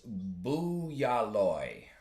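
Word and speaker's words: Bualoi: I do have this here and it is bualoy. Bualoy, that's how you pronounce this.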